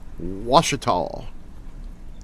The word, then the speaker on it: Ouachita: And it took me about half a year, but I think I learned to pronounce Ouachita, which begins with an O, by the way.